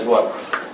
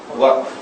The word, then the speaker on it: waqf: Notice how I pronounce the word, waqf. It's one syllable. Don't take a word from the Quran and make biryani out of it. I'm talking to the Malay people. Okay? The word is waqf.